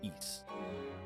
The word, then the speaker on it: Ys: in the time of eats it is pronounced East by the way my leaves have felt